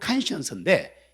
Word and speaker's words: conscience: 그래서 콘사이언스, 발음은 conscience인데 이 뜻이 뭐냐?